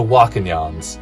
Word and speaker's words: Wakanyan: got two of the wakanyans so i i will remember that i think from now on as wakanyan is the proper pronunciation we got the agua